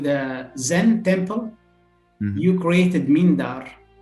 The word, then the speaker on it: Mindar: In a joint project with the Zen temple, you created Mindar. Do I pronounce the name correctly? Mindar. The priest, yeah, Mindar.